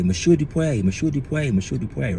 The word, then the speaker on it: Dupé: time we gathered, because folks think that my name is French, Dupé, or Mojupé, or there's several pronunciations, or I shouldn't say there's several pronunciations, but there's several ways people pronounce it. But it's not. It's from an African language, right? The language is called Yoruba, and I chose that